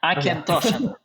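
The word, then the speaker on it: Auchentoshan: pronounce this wrong, but Aukenstoshen single malt whiskey. Almost right. Aukenstoshen. Okay. Aukenstoshen.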